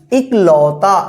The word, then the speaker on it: इकलौता: इकलौता कैसे लिखा जाएगा ए छोटी ए का उच्चारण हो रहा है इकलौता आप इसको मिला लीजिए